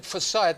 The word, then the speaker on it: Forsyth: By the way, Bruce, is it, and I just took a chance and said Bruce Forsyth, but it could have been Forsyth. Now, it's always a problem when people have got two pronunciations.